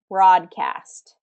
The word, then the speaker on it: broadcast: Broadcast. Okay, we have two vowels walking together, but in this case, it's commonly pronounced as ah, that short ah. Broadcast.